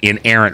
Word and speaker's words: inerrant: is I an ooh it's I an ER our auntie inerrant three syllables incapable of being wrong um sounds familiar yeah it sounds like Frank and errant okay so what we're